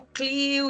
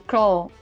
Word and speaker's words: CLIL: Eu pronunciei certo, gente? Não, falei errado. Clo. Eu falo aportuguesado, Clio. Então é Clio, gente.